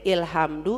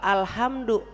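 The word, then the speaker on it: الحمد: Ini bacanya ilhamdu apa ulhamdu apa alhamdu. Nah, bacanya al karena ada lam lam takrif namanya ya.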